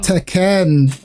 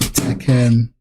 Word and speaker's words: Tekken: Ten. I'll always remember that. Tekken. To be fair, that's how casuals would pronounce Tekken.